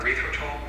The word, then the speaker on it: erythritol: So when we're talking about erythritol, it's a sugar. Erythritol. Erythritol. Bro, Dr. Bird ain't never lied, bro. Erythritol. I don't really care, honestly. Come on, erythritol.